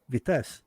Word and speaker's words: Vitess: First of all, do I pronounce it correctly? Vitess? Yeah, that's right.